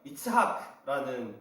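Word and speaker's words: יצחק: 이 이삭이라는 이름을 히브리어로 발음하면 이츠하크라는 발음이 된다고 저번에 말씀드렸었는데, 이 이츠하크라는 이름의 뜻은 그 말대로 웃음이라는 뜻입니다.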